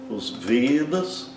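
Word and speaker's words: वेद: como nosso e aberto, sempre como e fechado, como se tivesse um acento circunflexo, tá?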